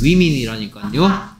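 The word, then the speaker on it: women: 민철이 잘 기어가고 있네 위민이라니까요 좋습니까 복수형은 위민이라고 위민 그래서 파퓰러의 뜻은 인기있는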